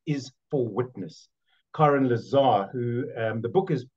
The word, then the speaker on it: Karen: It's pronounced Karen, Karen, actually, but I answered to Karen.